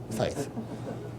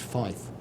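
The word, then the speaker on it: Feith: discussed this with Doug Faith he stopped looked at me and just said it's pronounced F actually and you know I'm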